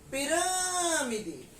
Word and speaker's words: pirâmide: Mas se eu gritar, eu vou gritar pirâmide. Então, na palavra pirâmide, a sílaba tônica é rã. Então, ela é uma palavra proparoxítona, porque a sílaba tônica é a antepenúltima.